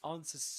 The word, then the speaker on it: answers: So he says it answers to me. That's what he says. Which means that well first of all in terms of sounds the W is silent.